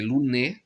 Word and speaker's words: Louné: A priori, en gascon, c'est Louné. Je prononce avec bien les deux N. Louné.